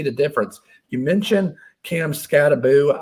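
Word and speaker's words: Skattebo: you mentioned cam scaboo I like calling him cam scabo I'm stick with that because it just sounds cool and I believe that's how he actually pronounces it and I hate when guys on the SPN pronounce it scabo it's just like come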